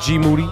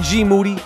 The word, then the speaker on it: Moody: I'm in here with G Moody, whose last name rhymes with duty.